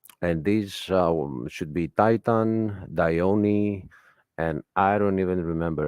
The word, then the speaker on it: Dione: Dione is how it's pronounced.